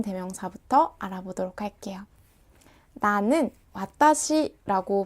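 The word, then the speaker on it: 私: 나타내는 1 인칭 대명사 부터 알아보도록 할게요 나는 맛다시 라고 발음 하는데요 한번 따라해 볼까요 맡아 씩 4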